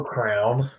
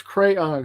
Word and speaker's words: crayon: crayon yeah there's a crayon my knees no crown my my niece pronounced a crown crown like uh no it's crayon c-r-a-y-o-n crayon and it's not a crayon either